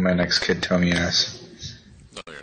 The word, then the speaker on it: Tomaz: It's Tomaz. I'm missing an Tomaz? Yeah, it's Tomaz. Tomaz, that's nice. I like that. I'm going to name my next kid Tomaz.